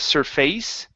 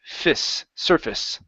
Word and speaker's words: surface: is this one here instead of surface okay um this is going to be like fist surface surface surface okay so uh it hits the surface it hits the surface good yeah so accent at the beginning you guys and instead of saying face that turns to a fist surface okay nice job nice